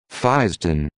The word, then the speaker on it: fisetin: Fisden. Fisden. Okay. Two syllables instead of three.